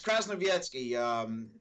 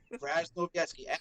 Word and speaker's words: Krasnowiecki: So, it's Krasnowiecki. Dude, there Polish. isn't even a Z in there. There's no Z's in there. Krasnowiecki. Like the A.S. is like as, like if you were saying at, something as well.